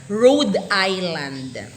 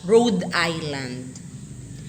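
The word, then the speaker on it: Rhode Island: p pennsylvania isang r Rad Island hindi pa siya Rod road Island next dalawang s South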